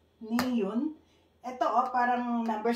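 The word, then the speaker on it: 니은: So, ang tawag dito is kiyo, niyun.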